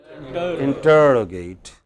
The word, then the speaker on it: interrogate: Next, what is 2 syllables before ate? Ter. So, how would we pronounce it? Interrogate.